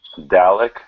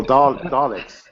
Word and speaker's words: Dalek: Dalek from Oh yeah, Doctor Who. yeah. Oh, Daleks. Yeah. Yeah, See, Michael gave you the correct pronunciation of that. it's a Thanks, Mike. Dalek.